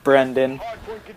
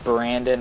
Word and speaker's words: Brendan: get into this so i am brendan for those of you who don't know my actual name that is spelled b-r-e-n b-r-e-n-d-a-n because people like to call me brandon and i'd just like